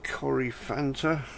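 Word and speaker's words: Coryphantha: look at in the winter uh these uh Corey Fanta that's how you pronounce it these pods have been on here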